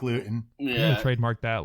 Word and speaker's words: Luton: up and disappeared hey say his name correctly it's highfalutin jake luth hi flute and jake lewton yeah trademark that like